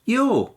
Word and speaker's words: you're: And the pronunciation is the same as your, as in, I want to hold your hand.